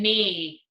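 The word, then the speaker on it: knee: talked about this one I had a silent K it's an E repeat me remember and you cannot hear the K so it's just me just me it's a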